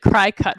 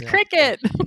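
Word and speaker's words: Cricut: okay uh well i i pronounced it cry-cut for way too long yeah me too me too like i didn't know i thought it was cry it's cricket yeah okay they have a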